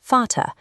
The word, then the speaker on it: Vater: Then we have the letter V. In many German words, it shifts to an English F sound. For example, the word for father is spoken as Vater.